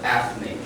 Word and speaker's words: ethnic: Yeah, see, sorry, here on the first syllable, if you don't have the A or the Y, the words are ethnic.